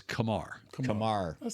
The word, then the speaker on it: Kumar: let you know that the correct pronunciation of his first name is Kamar Kamar Kamar that sounds